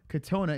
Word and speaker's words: Katona: How do you say his name? Katana or Katona? Katona? I think it's Katona. All right, so you don't know. No, I'm pretty sure it's Katona.